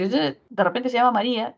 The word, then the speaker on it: María: Ortográfica, tendríamos Ma-ri-a. Y se identifica que es una palabra grave. Y por ser palabra grave, no debería llevar tilde, ¿cierto? Por ser una palabra grave, no debería llevar tilde. Sin embargo, María lleva tilde, ¿cierto? ¿Por qué? Porque hay una vocal cerrada con una abierta que genera hiato acentual.